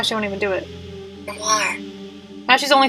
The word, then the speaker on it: grimoire: What the fuck is a grimoire? I'm gonna look it up. A book of magic spells and invocations. Yeah, I could have guessed. Now, how do you pronounce it? Grimoire.